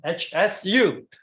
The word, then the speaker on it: Hsu: So in US or in Europe, maybe you will have to say HSHE. It's she. It's like she, her, she.